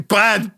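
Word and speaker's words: Bough: from which means body bad body odor like you have Buffy armpits I mean wasn't it was spelled b o u g h but it's still pronounced B imagine being walking around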